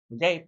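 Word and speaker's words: Gueye: For the Hawks, Young, Daniels, Risashe, Guy, Gay. You guys said it was Gay? That's how you pronounce his name.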